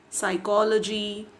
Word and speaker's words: psychology: Other examples like pneumonia, psychology, wherein P is silent, island, S is silent, whistle, T is silent, campaign, G is silent, bristle, T is silent.